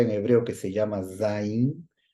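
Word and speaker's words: zayin: hebreo que se llama zin que se pronuncia como si fuera el sumbido de una abeja zin así zot Z Y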